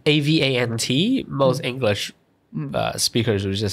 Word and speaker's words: avant: like avant or avant, but French is actually avant. Avant. And because the word that follows is garde, it's a G. It's not a E or an A, so you don't actually pronounce the T.